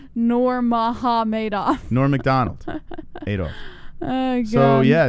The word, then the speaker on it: Nurmagomedov: they're mega made off it's pronounced nor maha madoff nor mcdonald adolph oh